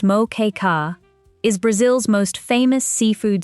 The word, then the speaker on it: Moqueca: Moa, pronounced moka, is Brazil's most famous seafood stew.